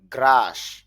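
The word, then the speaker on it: grass: গ্রাস অর্থ হলো ঘাস। গ্রা এখানে লং সাউন্ড অর্থাৎ দীর্ঘ হবে দুইটা ফোঁটা থাকলে।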